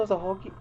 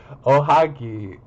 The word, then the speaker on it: ohagi: he really that into a hogi oh why I saying a hogi wait ohagi ohagi I can't believe I'm been mispronouncing that ohagi that's the name also